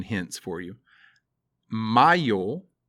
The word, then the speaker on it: mayo: Mayo is May, not mayo, which is something that goes on a sandwich.